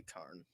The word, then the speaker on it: cairn: I think what it is that in Gaelic it is pronounced something close to Karn.